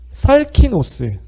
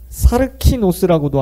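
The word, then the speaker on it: σαρκινός: 자, 두 번째는 육신에 속한 사람의 원어는 살키노스. 사르키노스라고도 하고 살키노스. 발음상 차이입니다.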